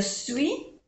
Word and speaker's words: suis: Je suis, no se pronuncia la S.